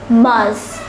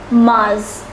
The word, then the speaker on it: mars: written as february once more february much is pronounced as mars once more mars april is pronounced as avril avril so let